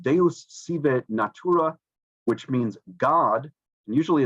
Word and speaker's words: Deus sive natura: Spinoza's famous line was in Latin, and I don't read Latin, but I think it's pronounced Deus sive natura, which means God, and usually it's translated as God, comma, or nature.